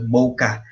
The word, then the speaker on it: bokeh: it as boh KBO's ke h but you pronounce it up bokeh okay you go for a smaller aperture peanuts